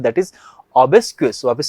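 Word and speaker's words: obsequious: जो word discuss करने वाले हैं दैट इज ओबस क्वेस वापस से बोलिए बेटा मेरे साथ में ओबस क्वेस अगर हम लोग ओबस क्स की स्पेलिंग की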